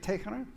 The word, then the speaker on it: Tehran: Wait, how do you say it? Tehran. Tehran. Tehran. Yeah, Tehran.